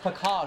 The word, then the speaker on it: Package: application like your friend jack package it's pronounced pecan get out of here